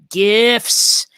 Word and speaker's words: GIF: short form animation yes gifs listen hard g people it ain't peanut butter okay but before